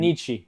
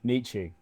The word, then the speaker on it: NICCE: NICCE. NICCE, yeah, that's how you pronounce it, but it started off as nice